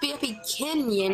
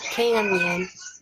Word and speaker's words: BFBKenyan: Yeah, but it's pronounced BFB Canyon, not Canyon.